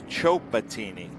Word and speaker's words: Chatini: today at the Grid it's chatini oh chatini yeah yep so I have been saying it wrong this whole time he corrected me last season and I forgot his correction so we're going to make it right today that is Frank chatini